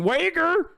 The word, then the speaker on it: Uyghur: Uyghur is how you pronounce it in Turkish. Okay? I'm sorry that I'm not saying Uyghur.